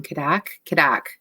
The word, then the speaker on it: CADDAC: And if you're looking for a resource to share with teachers, I always say it wrong. Caddac, CADDAC.ca.